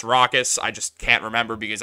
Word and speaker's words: Rokas: his minutes and also I keep calling him rokas his real name it's pronounced rockas I just can't remember